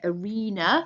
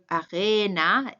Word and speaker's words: Arena: I underlined this one just because I didn't want you to say arena. Hopefully you didn't do that. It was arena, A sound here.